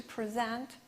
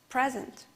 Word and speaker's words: present: With the red color, I highlighted that part of the word which should be stressed. To export, export, or to present, present.